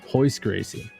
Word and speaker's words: Royce Gracie: you spell it because in brazilian portuguese the r is a huh sound that's why like old ufc royce gracie is hois hois gracie you never know wow